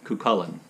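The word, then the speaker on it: Cú Chulainn: No, I'm going to say it again. The Irish hero Cuchulainn. That's how you say it.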